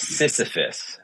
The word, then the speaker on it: Sisyphus: I'm probably going to pronounce his name wrong, but Sisyphus.